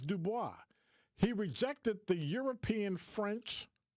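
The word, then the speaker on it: Du Bois: book and they say his name isn't dubo his name is Dubois he rejected the European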